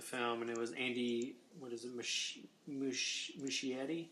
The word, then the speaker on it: Muschietti: And he obviously didn't direct the film, and it was Andy, Muschietti, I think is how you say it.